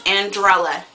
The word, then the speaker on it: Andrella: that drives me insane my name is andrella a n d r e l l a it's not that complicated okay I get Cinderella Angelica Andrea Angela umbrella uh uh